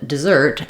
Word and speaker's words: dessert: exact same pronunciation where the letter e is unstressed and has the I sound the stress is on the zert syllable um it's just doesn't